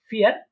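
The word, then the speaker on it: vier: ঠিক আছে, অনেকে বলতে পারেন যে এটা তো ভি, কিন্তু এটা ভি না, আমরা দেখেছিলাম যে জার্মানরা এটাকে ফাও বলে থাকে। ঠিক আছে, তো যেহেতু ফায়ের মতো বা ফ এর মতো উচ্চারণ হয়, তাহলে এটাকে আমরা বলবো কি ফিয়ার।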